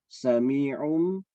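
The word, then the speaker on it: سميع: Ini karena ini ketemu nun tasydid ketemu ba adalah iklab, maka dibaca sami'um basirun.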